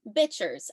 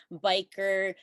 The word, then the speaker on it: Bichir: You heard me, bichers. I know, that's not how you say it. And I'm not saying that biker, bicker, Bichir, and some of the other pronunciations out there aren't totally fine too. This option just seems to be the most potentially offensive while simultaneously being the most correct. So that's what I'm going with.